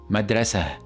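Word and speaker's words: مدرسة: called in Arabic now if we stop at this word all right then it will be pronounced as madrasa madrasa with the hey sound however if I add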